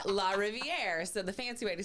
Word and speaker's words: Larriviere: So, it's French. So, how do you say river in French? Do you know? La River. Closer. Yeah. La Rivier.